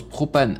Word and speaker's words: PRX PVNE: La bit maker que tu as vu dans les crédits PRX PVNE, ça se prononce propane.